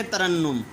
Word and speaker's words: ترنم: جی آگے دیکھیں، ترنم، پہلے دو پر زبر، تیسرے کے اوپر شد اور پھر اس کے اوپر پیش.